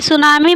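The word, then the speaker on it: tsunami: Lallan top question में क्या बताए हैं कि सुनामी में टी साइलेंट होता है और सुनामी का अर्थ बंदरगाह में की उठती लहर होती है।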